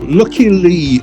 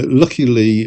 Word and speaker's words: Lykke Li: Lucky Lee or some approximate pronunciation is a Swedish singer, songwriter, model, and actress.